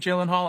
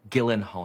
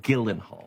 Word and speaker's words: Gyllenhaal: Hi, I'm Jake Gyllenhaal, and I'm hosting SNL this week with Camila Cabello. No, Gyllenhaal. Your name is pronounced Gyllenhaal.